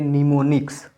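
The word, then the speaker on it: mnemonics: यहाँ पर भी देखिए एम एन से शुरू है ना वर्ड, तो इसको भी एम साइलेंट कर देंगे, इसको पढ़ेंगे निमोनिक्स।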